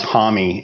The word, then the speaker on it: Homme: it differently of course I never knew that Josh Homme was pronounced Tommy until just like a couple of years ago oh wow okay so